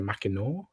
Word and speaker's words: Mackinac: in a hop called, in French it's called Mackinac. I understand that in English apparently we pronounce it Mackinac or Mackinac, but it's a area in Michigan.